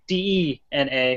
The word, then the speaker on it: DeNA: called DNA um and spelled like d na but it's pronounced DNA um and they have